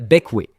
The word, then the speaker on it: Bequia: Juste en dessous se trouve l'île Beckway. Oui, je sais, on dirait que ça se prononce Bequia, mais c'est bequé, c'est comme ça qu'on le prononce.